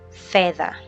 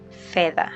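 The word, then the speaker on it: fedha: So a combination of D and H will give the the sound. The. All right. So an English example here is either. So either, that the sound is what D and H combination in Swahili will give. So a Swahili example here is feather. Feather. Feather means money. Okay.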